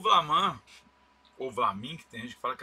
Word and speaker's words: Vlaminck: Às vezes eu falo Maurice Flamand, é Maurice de Flamand, Flaminck, né? O cara, ele, André Derain, se escreve Derain.